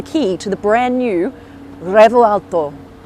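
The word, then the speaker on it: Revuelto: to the brand new revolto that's kind of how you say it but not really you're meant to roll the r but I can't roll ours people are like literally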